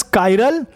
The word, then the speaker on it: chiral: Pronounce as कायरल Greek word meaning hand.